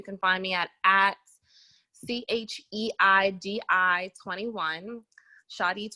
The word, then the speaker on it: Cheidi: Shadi 21 is how you pronounce it.